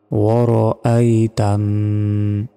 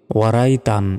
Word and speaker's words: وَرَأَيْتَ: তা নুন জবর তান, ওয়া র আই তান। আমরা অনেকে এখানে ভুল উচ্চারণ করি, বলি যে ওয়ারাই তান, ওয়ারাই কিন্তু নয়। দেখুন ওয়ার তারপর হামজা রয়েছে, হামজার উচ্চারণই আমরা অনেকে করি না।